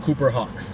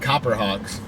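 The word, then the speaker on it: Cooper's Hawk: Guys, got the order picked up, and before anybody roasts me in the comments, I know it's pronounced Cooper Hawks, and I said Copper Hawks, but it's Cooper.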